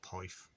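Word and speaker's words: poeth: because if i do if you read it in english you don't pronounce it right it's just poif so the welsh word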